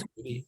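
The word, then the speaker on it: SCBWI: Yeah, in the industry, we all say Squibby. It's Society of Children's Book SCWI. Writers and Illustrators. And it's, Yeah. It's like saying the alphabet as a word.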